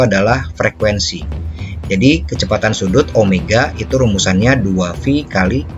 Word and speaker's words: omega: Nah, kecepatan sudut dibacanya adalah omega. Jadi kayak huruf W tapi lebih miring, italik. Ini disebut sebagai omega.